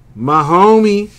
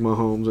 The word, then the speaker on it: Mahomes: Mahomey. Well, Patrick Mahomes, anyway. I like to pronounce it Mahomey sometimes. Because, you know, my homie.